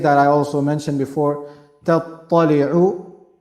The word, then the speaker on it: تَطَّلِعُ: And the mistake that I also mentioned before, تَطَّلِعُ, ta is light, ta is heavy, same pronunciation, but lightness and heaviness, one is light, one is heavy.